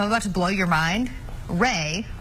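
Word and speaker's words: Rae: Ray, which is spelled R-A-E, is ear backwards.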